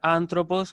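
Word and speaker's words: ἄνθρωπος: De cualquier manera, ustedes lo pueden pronunciar anthropos, que va a estar bien, no hay problema, ¿sí?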